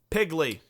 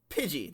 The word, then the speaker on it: Pidgey: Pokemon we'll be talking about next week is pigley no not I don't think there was Pokémon